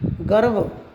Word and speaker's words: गर्व: गर्व। गर्व में वे के ऊपर लगा हुआ है, गे रे वे, गर्व।